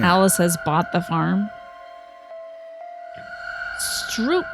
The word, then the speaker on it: stroop: Stroop means syrup, and it's pronounced like stroop.